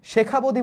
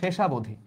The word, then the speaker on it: শেষাবধি: এই পৃথিবী ও শুভ চেতনা থেকে প্রাপ্তি, শেখাবধি বলতে কিছু না, এটা হচ্ছে শেষাবধি, এখানে বানানটা হচ্ছে ভুল, বইয়ত ভুল দেওয়া আছে।